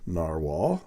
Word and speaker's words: Nahvalur: And here is the Narwhal, pronounced Narwhal, but spelled Nahvalur. Narwhals, they are narwhals. This is the new logo and new name for Narwhal. Apparently it's Icelandic for narwhal, but pronounced the same.